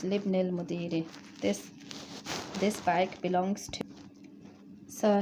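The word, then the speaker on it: لابن المدير: So we say, remember, we don't say li ibni because it's not a Hamzatul Wasl is not pronounced when it's in the middle of a word, so it's Libnil Mudiri.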